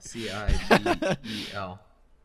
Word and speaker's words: Cibel: If you want to check it out, Bel, excuse me, not Bil, Cibel.